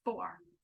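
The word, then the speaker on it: Fómhar: gauge swatch, but it's the pocket of the 4R cardigan. I looked up how to pronounce it. I got Google to tell me how to pronounce it. It's 4R, but it's spelled Fomhar.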